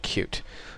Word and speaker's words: Qt: be covering it's called cute it's spelled QT but it's pronounced cute and when you search